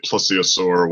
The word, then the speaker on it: plesiosaur: But no, Loch Ness Monster, everybody who won't accept that there's no such thing says was a plesiosaur, however you pronounce it.